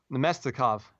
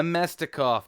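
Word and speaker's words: Namestnikov: to pronounce his name domestic off no mystic off that was it you said now mystique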